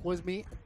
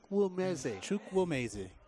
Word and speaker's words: Chukwumeze: Bravo going deep, trying to go down deep to Chuck Wisby. Doesn't get it to him. I keep getting the name wrong, don't I? You forgot the woo. Oh, Chuck Wisby. Chukwumeze.